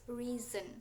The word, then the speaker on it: reason: Jadi reason and reason, but uh, the the correct way to say it is reason. So we should say it like z, because s was in between two vowels, two vocal letter, like e and a.